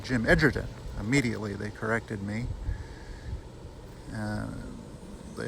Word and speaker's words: Edgerton: Now, at the town clerk's office, first of all, I learned that you pronounce Jim Edgerton's name Jim Edgerton.